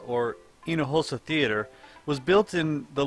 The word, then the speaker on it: Hinojosa: H is silent. Teatro Hinojosa, or Hinojosa Theatre, was built in the late 1800s.